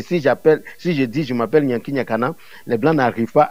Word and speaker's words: Nyanki Nyakana: Et si je dis je m'appelle Nyanki Nyakana, les Blancs n'arrivent pas à prononcer Nyakana.